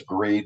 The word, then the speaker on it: Graid: we are known as grade the technology Inc grade as in g-r-a-d-e from a pronunciation that's not g rate um so let me